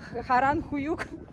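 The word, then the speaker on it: Harran Höyük: Но вообще, вот это место, Харанхююк, да, это какое дурацкое слово, Харанхююк, господи. В общем, это так на турецком произносится, на самом деле.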